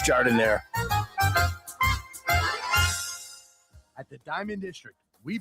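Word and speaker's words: giardiniera: Don't call it Gardinia. It's pronounced jardinire.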